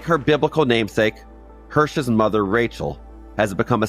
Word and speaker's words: Hersh: and a ready grin I started saying my name is hirh still the Barista would say Kurt this time I would actually correct them no hsh it is spelled h e r s h by now many people